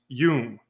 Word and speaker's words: Jung: Um, for the future, his last name is pronounced Yung.